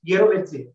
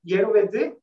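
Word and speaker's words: jirovecii: Human-specific species was thus called as Pneumocystis yerovetzi. So that is how it is spelled, yerovetzi.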